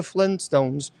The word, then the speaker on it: Flintstones: Do you know the Flintstones is actually not pronounced the Flintstones? It's Flint Stones. There are two T's.